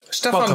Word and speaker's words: Stefan: I pronounce it Stefan. Stefan. It's yeah, okay. And you might be familiar with the Germanic pronunciation. It's a Hungarian pronunciation taken by the Germans.